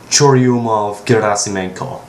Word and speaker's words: Churyumov-Gerasimenko: By the way, it's pronounced Churyumov-Gerasimenko, so there you go.